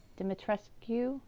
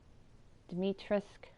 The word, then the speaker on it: Dimitrescu: this is the castle dimetrescu although i don't think the u is actually pronounced in the game dimitrisk anyway here we go